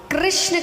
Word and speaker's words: कृष्ण: कृष्ण कहने में जीभ घूमती है। बोलो घूमी? जिसकी नहीं घूमी गलत बोल रहा है। हां सही उच्चारण करोगे तो घूमेगी।